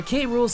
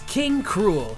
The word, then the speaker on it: K. Rool: the first game where K rules name is spoken verbally being pronounced as K rule in English and in Japanese as king cruel the only other notable